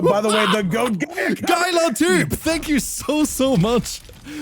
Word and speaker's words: geiler: You cannot pronounce this. I was like, all right, fair enough. Wait, hold. Like this, basically. Geiler. Geiler. You can say Geiler too.